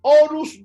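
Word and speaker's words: Horus: Recordemos que faraón para los egipcios era orus vivo. Orus se escribe con h o ru s.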